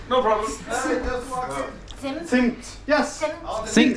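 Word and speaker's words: Zimt: Simt. Simt. Yes. Think about it as spelled with TS.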